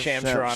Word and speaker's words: Shams Charania: Who's Shams Charania, how do you pronounce his name? Shams Charania.